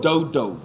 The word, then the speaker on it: dodo: is beans porridge beans they call it dodo it's dodo it's spelled d-o-d-o though and that's that that's